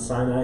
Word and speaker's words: Sinai: Sinai. Yep. You can pronounce it Sinai, you can pronounce it Sinai, it doesn't really matter.